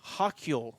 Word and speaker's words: Hochul: So the governor, now I do not know how to pronounce her name, and I do apologize. It's like Hochul. Hochul.